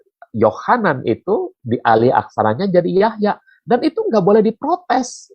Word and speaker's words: Jahja: yang disempurnakan ada itu John itu dialih aksarakannya jadi Yahya tapi tulisannya Jahja gitu seperti Nama saya dulu waktu masih alkitabnya pakai terjemahan lama terjemahan lama itu Yohana itu dialih aksaranya jadi Yahya dan itu nggak boleh